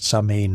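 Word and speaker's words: Samhain: The word sain pronounced sa in means summer's end.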